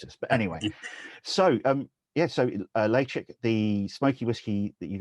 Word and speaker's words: Ledaig: So I am told that the right way to pronounce it is Ledaig. So, in the wee kind of mnemonic that goes with that is kind of chicks lay eggs, if you like, Ledaig.